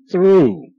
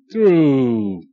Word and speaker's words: through: me thank you good through through GH is silent okay now here again